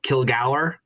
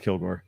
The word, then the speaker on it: Kilgour: It's whether you want to go with the anglicized name or the more Scottish original name. So Kilgour is the original pronunciation, but both are acceptable.